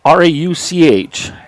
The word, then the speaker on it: Rauch: Next up is Will Rauch, R-A-U-C-H. I've seen that, or I've heard that pronounced a number of different ways, but on our lineup card they put the pronunciation R-O-U-K, so we'll go with Rauch.